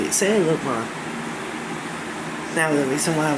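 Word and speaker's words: Sangloupmon: So after Renamon, her champion would be Sanlupmon, I'm sorry, that's how you say it, Sanlupmon.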